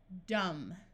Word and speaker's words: dumb: So again, the B is silent when the M and B is at the end of a root. We can still add a suffix and have the B be silent.